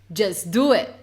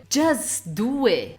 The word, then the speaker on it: just do it: Ou uma frase famosa, just do it. O que você ouve? Just do it. Just do it.